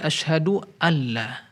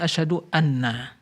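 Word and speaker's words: أشهد أن لا: Maka tatkala diidghamkan menjadi asyhadu alla. Jadi seolah-olah di sini nun sukunnya tidak diucapkan, tapi langsung diidghamkan. Asyhadu alla. Asal muasalnya asyhadu an la. Nah, mungkin di sini terjadi sedikit ya kekeliruan membaca, dia mengira mungkin asyhadu anna.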